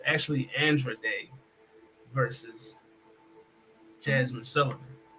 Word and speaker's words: Andra Day: Her name is Cassandra, so it's Andra. Okay. Andra Day.